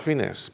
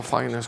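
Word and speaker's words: Fiennes: nominado Joseph o fines hay que pronunciar los fines porque realmente es un apellido muy antiguo y hablaré de eso y no fines como lo pronuncian a otras personas bien a lo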